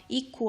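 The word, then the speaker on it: eco: 한번 얘기를 하자는 요의 에코 라는건 요 에코 라고 불리지 안에 에코는 한국식 발음 입니다 이코 라고 부릅니다 이코 프라임 블레이 iqs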